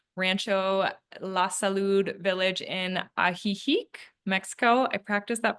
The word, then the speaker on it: Ajijic: Ajijic actually is a Nahuatl Indian word, now spelled with a J instead of an X, but it is an ancient word.